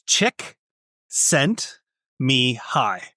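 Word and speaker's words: Csikszentmihalyi: So, I studied him in university and it's it's chick sent me high.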